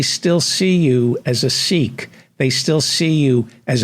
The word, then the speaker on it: Sikh: life you were a Sikh it's pronounced sick in among the punjabis so but we'll call you seek for the American audience that you were born